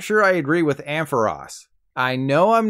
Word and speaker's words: Ampharos: I personally go with Ampharos but the Pokemon company wants you to call it Ampharos like Ross from friends I checked the etymology